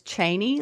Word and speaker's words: Cheney: But when I got to the States, I thought everyone here knows how to say my maiden name correctly because of Dick Cheney.